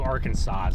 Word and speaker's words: Arkansas: Did you just sound the S on Illinois? No. Oh, I did that when I was like five, though, but I don't do that anymore. I used to do Arkansas, too.